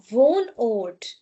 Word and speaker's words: Wohnort: So in today's video, I have like mentioned that if before H we have a wall vowel, then we will not be giving a lot of stress to ha. So, we are not going to say wohnort. Uh-huh, we say wohnort, wohnort. A very slight touch of H.